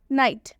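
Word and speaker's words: night: देखते हैं ठीक है नाइट नाइट में आप देख सकते हैं आई है और आई के बाद से जी एचटी आया हुआ है नाइट में आई के बाद से जी एचटी आ रहा है रूल के हिसाब से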